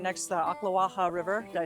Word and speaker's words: Ocklawaha: All right, we just pulled up to this gorgeous area that's right next to the Ocklawaha River.